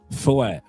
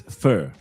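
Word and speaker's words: Feu: Foy. No, not foy. Foy? No, not broken. Focus. Foy. It's fur. You pronounce it in French. Fur. F-E-U. Fur.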